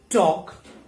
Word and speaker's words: talk: in the last world similarly we do not pronounce this l as it comes before letter k okay so walk talk chalk but when it comes